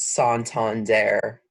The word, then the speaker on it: Santander: It's actually a Spanish bank. Pronounced Santander.